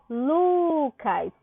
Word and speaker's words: Lucas: Qual a sílaba tônica de Lucas? Eu digo Lucas. Então, o Lu é a sílaba mais forte do nome Lucas.